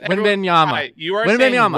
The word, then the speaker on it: Wembanyama: I'm gonna make you say Wembanyama all the way through Wembanyama.